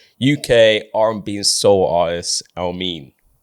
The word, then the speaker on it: Elmiene: Uh and yeah his surname is Elamin. Um but they say it as Elm. So he's tried to like spell it out of how it's said and so that's why it's Elmen.